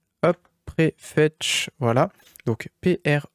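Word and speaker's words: Prefetch: fois vous allez taper préfet comme ça se prononce hop prêt fetch voilà donc pr E F e t C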